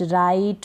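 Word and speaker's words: right: जी एच है नाइट राइट माइट site हाई टाइट इन सभी में आई के बाद जी एच है तो हम जीएच को नहीं पढ़ रहे हैं यहां पर इन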